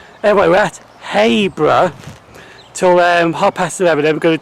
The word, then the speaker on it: Habrough: a Y there, it's Habrough. Now you always think it's Habrough because of ha, but it's not ha, it's hay. For some strange reason, that's how it's pronounced. Anyway, we're at Habrough till 11:30.